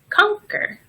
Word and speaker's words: conquer: and earthquake we can also pronounce the letter Q like the letter K technique and conquer so here's a difficult